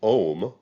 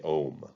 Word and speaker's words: Om: god the picture we see here is the om it's spelled o-m or a-u-m and that's the symbol